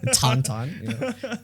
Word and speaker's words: Tintin: tonon was still around tonon kind of like the uh that's the French and Belgian pronunciation of it apparently and I just also